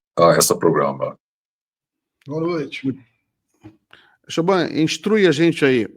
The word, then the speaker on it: Shobhan: Shobhan, instrui a gente aí, o seu nome se pronuncia certo mesmo, Shobhan? É Shobhan mesmo, Shobhan. Porque em português não tem essa som B-H-A junto, não? É Bha, que é uma som bem indiano, só existe na idioma de Ásia.